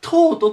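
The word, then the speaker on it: taught: くるんですけどここ GH これ英語でよく使われる発音しない G と言いますなので今回ま au で O うって読むでちょっと変わってるんですけどでとと G は全く発音しませんここに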